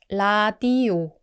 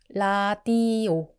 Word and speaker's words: 라디오: So it's a bit like an English R, a bit like an L, right in the middle.